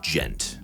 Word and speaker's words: djent: subgenre of metal called djent. It's spelled d j e n t. It's supposed to be an onomatopoeia for the sound of the guitars, like a djent djent djent djent.